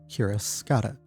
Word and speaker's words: cuirass: I don't know how the hell to pronounce that. Curious. Cuirass? Cuirass. Oh, I've Cuirass. always read it wrong. Cuirass, got it.